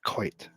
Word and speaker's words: Coit: very nice we'll build koi tower here start off with our coit tower it's not koi it's not fish it's quite t is pronounced just